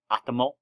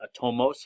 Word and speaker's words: atomos: I've heard it pronounced atomo, I've heard it pronounced atomos, I've heard it pronounced atoma. But I just say atomos or atomos.